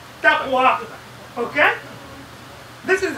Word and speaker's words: taqwa: So the waw is replaced with ta. So it is taqwa.